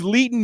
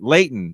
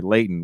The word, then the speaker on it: Leighton: leading me what was leeton meester in am i saying it right layton sorry layton what was leighton meester